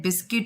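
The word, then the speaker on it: biscuit: इसमें T silent है, बिस्किट इसमें यू साइलेंट है, रिंकल्ड इसमें डब्ल्यू साइलेंट है, स्विच इसमें टी साइलेंट है।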